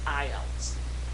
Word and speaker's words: IELTS: Well, it stands for the International English Language Testing System, and as you've already heard, we pronounce it IELTS.